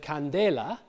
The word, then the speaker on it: candela: that the stress shifts Latin has the word Candela so des is the stress syllable the second syllable this gets borrowed into